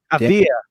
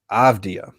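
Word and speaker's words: Avdija: Avdia. Denny Adia. That's how you say it. Avdia. Avdia.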